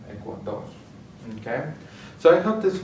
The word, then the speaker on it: Ecuador: And finally ends with an R, so we're going to stress the last syllable, Ecuador.